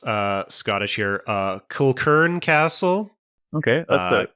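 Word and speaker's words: Kilchurn: image it is I'm not sure how to pronounce uh Scottish here uh Kern Castle okay that's it uh k i l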